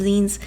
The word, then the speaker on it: zine: basic definition of a Zen anyways it's pronounced as if it was the end of the word magazine in English it's usually a self-published